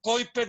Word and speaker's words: Kuiper: lo que se llama el anillo de coiper le dicen en inglés se escribe kuiper y pr y quiera